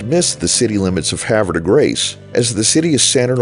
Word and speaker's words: Havre de Grace: out that the city at exit 89 is pronounced "Havver-de-grayce". And you wonder why so many people have trouble pronouncing Brett Favre...FaRve...Farve ra. We just miss the city limits of Havre de Grace, as the city is centered on US-40, just